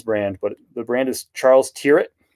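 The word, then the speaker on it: Charles Tyrwhitt: I'm selective in this brand, but the brand is Charles Tier. It's a British BL brand. That's how you pronounce it. Charles Turret. And uh they're known for like formal wear. Uh Charles Turret.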